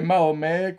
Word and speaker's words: Mahomet: n'était pas chrétien et Mahomet qu'on prononce Mohammad chez les musulmans n'était pas musulman alors